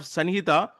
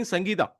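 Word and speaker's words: Sanhita: they are saying in instead of sanjita they are saying sangeita.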